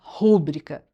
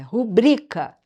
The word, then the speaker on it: rubrica: A palavra rubrica, que muita gente gosta de falar rúbrica, tá errado. Não tem acento no A sílaba tônica é o bri, é rubrica.